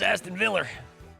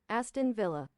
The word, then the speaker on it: Aston Villa: Back in my day it was Aston Viller.